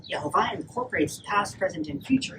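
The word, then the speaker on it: יהוה: with the Hebrew letters Yud He Vav He, pronounced Yehovah.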